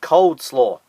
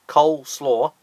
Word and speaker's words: coleslaw: explode at number seven she pronounced it cold slaw that's right cold slaw not coleslaw cold slaw apparently that